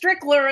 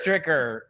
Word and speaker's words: Stricker: it's Chinese wrong too he says strickler and there's no l in it no it's Stricker yeah I know he's